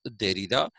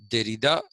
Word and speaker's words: Derrida: Now, a third Frenchman who goes by the name of Jacques Derrida, Jacques, but pronounced Jacques Derrida, Derrida. The French don't say de, they say the.